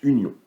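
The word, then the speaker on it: ∪: ensembles c'est l'opération d'union le U légèrement arrondi se prononce union à union B l'union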